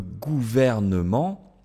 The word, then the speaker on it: gouvernement: n et ce M je ne peux pas dire le gouvernement le gouvernement d'accord pourquoi bah parce que c'est difficile à prononcer d'accord la combinaison des lettres ici fait que c'est difficile de supprimer ce e le gouvernement ok directement